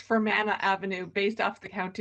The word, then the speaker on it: Fermanagh: I have no comments, except it's pronounced Fermanagh. Pardon? I have no comments. It's pronounced Fermanagh Avenue, based off the county of Northern Ireland.